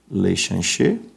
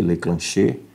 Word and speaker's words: Leclanché: De Georges Lechanché. Né? Você pode pronunciar Lechanché, Leclanché, certo?